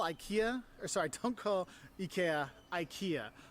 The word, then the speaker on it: IKEA: agree with him like say say ikea say ikea that's how you say it yeah if if i say yeah that's how you say it ikea right how do you say it yeah ikea yeah yeah and that's how i say it when i'm saying it in english also so okay and how he said it ikea that's how we say